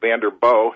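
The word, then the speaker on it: Vanderboegh: You were talking about Mike Vanderboog, and it's a soft ending to that, no hard G on that.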